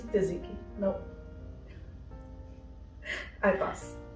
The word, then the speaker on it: tzatziki: For me, it's tzatziki. No. I pass. It's tzatziki. T is silent.